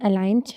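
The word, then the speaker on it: align: examples देखें इसके design अलाइन शंपान फॉरन एन साइन इसमें देखें तो जहां जहां भी जी एन से पहले आया है वह साइलेंट होगा नेक्स्ट आ जाता है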